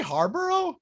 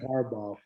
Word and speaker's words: Harbaugh: I was like, did he say Harborough? I meant Harbaugh. I think he mixed Ed Yarborough with John Harbaugh.